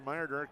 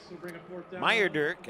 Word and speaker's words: Meyerdirk: Yeah, I'm looking at, let's see here, that was Landon Meyerdirk, I believe is how you say it.